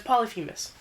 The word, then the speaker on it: Polyphemus: We had no idea how to fucking pronounce it because I didn't remember it. I didn't have it written down anywhere. But it's Polyphemus.